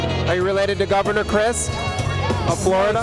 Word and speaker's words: Christ: Are you related to Governor Christ of Florida? It's spelled different. Mine's C-H-R-I-S-T. I'm related to the other one. Which one is that? Jesus. But you pronounce it differently. Actually, we pronounce it Christ.